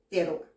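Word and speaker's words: תרועה: Déjame decirte que esta palabra júbilo la podemos encontrar en el Strong, en la H7321 y que se pronuncia teruah.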